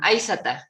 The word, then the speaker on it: Aissata: la colonia francesa después, no podían pronunciar Aishetu y le pusieron Aissata.